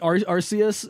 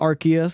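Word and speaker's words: Arceus: here yeah I mean I don't know like arus is probably a good Contender yeah not archus someone's going to be like wait you pronounce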